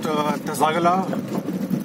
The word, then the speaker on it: Tsaka La: pronounced Tsagala or Tara, and this is where this thing comes.